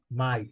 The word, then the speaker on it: might: Might. A pronúncia é bem simples, might. Might. Might. Might. O GH também só para enfeite, né? Não funciona, né?